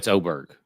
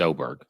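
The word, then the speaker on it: Åberg: I had to uncheck a couple, but it's Oberg. It is Oberg.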